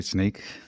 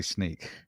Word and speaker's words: Snyk: you want to say do you want to show them how you pronounce sneak in a bad way I'd say sneak that's seems fine to me although I I have been known to say Snick in the past as well but there